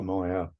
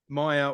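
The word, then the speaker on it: Maiah: I think that is it's Maya it's actually pronounced Maya Maya win Maya win win yeah when she come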